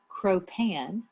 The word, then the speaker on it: cropan: crew derives its name from an anglo-saxon word cropan it's spelled k-r-o-p-a-n cro-pan um some think that the